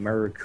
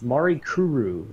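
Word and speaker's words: Mirakuru: of wondering to themselves what the hell does he keep saying muru or whatever I can't even say it right it's Mari Kuru is basically one of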